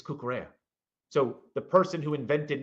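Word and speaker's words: Cucurella: kukara pronounces his name kukara not karella right yeah so because the Double L is a y sound so you would say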